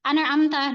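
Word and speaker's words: أنعمت: Contoh misalnya pada kata anamta itu ada kadar gunah juga. Kadarnya itu tingkatan ketiga naqiso anamtah. Jadi enggak bisa anamta tuh mantul lagi anamtah.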